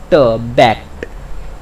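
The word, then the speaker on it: backed: पे जाके सुन लीजिए, इसका ट ही का साउंड आता है। बहुत सारे लगभग 90% लोग मिस्टेक करते हैं, इसे भी ड बोल देते हैं, जैसे बैक्ड ड, पर इसका जो रियल प्रोनाउंसिएशन है वो ट में आता है, बैक्ड।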